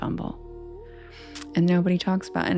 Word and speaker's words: Humble: we had to say umble. It's literally spelled like humble, but the city is called umble. The mayor calls it umble and nobody talks about and everybody's like, "Oh, what?"